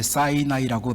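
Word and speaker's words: Sinai: 그 사이나이 하스피럴, 보통 우리가 시내산 할 때 그 시내산, 영어로 이제 사이나이라고 발음을 하는데 사이나이 하스피럴, 벌써 이름을 들어보시면 알겠지만 주이시 계통의 하스피럴 병원입니다.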